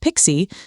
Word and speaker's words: PKCE: PKCE, pronounced Pixie, stands for proof key for code exchange.